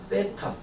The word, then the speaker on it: 세타: 세타. th 발음을 어떻게 하라고 배우더라? 혀 앞부분을 살짝 아프지 않을 정도로 세게 물면 피나니까 살짝 물어서 뱉으면서 치차름이라 그러나?